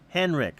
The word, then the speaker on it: Henrich: Henrik, okay. That's how I always pronounced it, but it's Henrich if spelled.